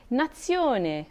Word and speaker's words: nazione: for cup or mug when z or zed is followed by the letter i it also has its sound for example nazione phonation double vowels in